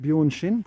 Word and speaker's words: Bjørnskinn: You'll see that although I'm pronouncing it Bjöshin, which I'm reliably informed is the right way to do it, it's actually looks like it's written Bjorn Skin.